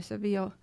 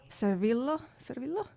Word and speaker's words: Servillo: paulo sorrentino's favorite actor tony seville servillo i pronounce it like yeah known for example from